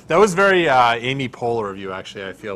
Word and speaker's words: Poehler: think i've ever heard her last name pronounced yeah okay okay so marketing take away here karen turn a negative into a positive and get more press if amy poehler wants to come on